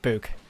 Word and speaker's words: Buke: You said Luke with a B. Okay, Book.